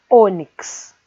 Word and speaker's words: ônix: O mesmo acontece com a palavra ônix. Se separa onix. Ela termina com a letra X, por isso a sílaba O recebe o acento circunflexo.